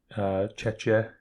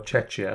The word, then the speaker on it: Czechia: Yeah, because then they built one in Czechia. Yeah, it was just I was going to say it's Czech something. Czechia? Is it Czechia or Czechia?